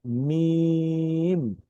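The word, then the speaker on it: ميم: থেকে, অর্থাৎ স্বাভাবিকভাবে বা, কিন্তু মিমের ক্ষেত্রে কিন্তু এরকম না। মিমের ক্ষেত্রে আমরা একটু দুই ঠোঁট চাপ দিয়ে মিম, মিম। যদি আমি আরেকবার বলি মিম।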